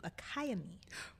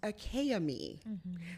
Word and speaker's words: Akaimi: a hawaiian pigeon dialect it is pronounced akayami so every single letter of my name is pronounced my name is spelled